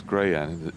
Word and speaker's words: Grian: I keep saying Grian. It's Greyan, isn't it?